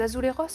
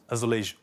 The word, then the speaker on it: azulejo: Les Azuleros. Exactement. Azuleros. Ce revêtement décoratif. Ah oui, pardon. Là, je l'ai prononcé à l'espagnol. Mais en portugais, puisqu'on est au Portugal. Alors là, François allait me reprendre. Azulejo.